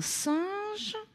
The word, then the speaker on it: singe: Un singe, on entend bien J dans le mot à la fin.